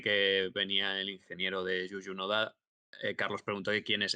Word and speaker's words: Juju Noda: Bueno, Víctor, evidentemente, es una persona que está trabajando como muy, muy de cerca con Yuyu Noda, se dice así, ¿no?